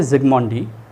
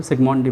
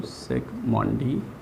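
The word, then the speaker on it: Zsigmondy: कि एक साइंटिस्ट है जिग्मॉन्डी, that is he discovered the ultra microscope. Z silent होता है, सिग्मॉन्डी बोलते हैं इसको, सिग्मॉन्डी, ठीक है।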